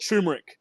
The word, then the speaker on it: turmeric: the second one is I hate how you guys pronounce it t turmeric I call it turmeric t r m r i c now when you take